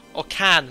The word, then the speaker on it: Cairns: We'll be flying 2 hours, 15 minutes eastbound to, pronunciation check, Cairns? No, someone said it's pronounced Cairns this morning on Discord, so can like a tin can.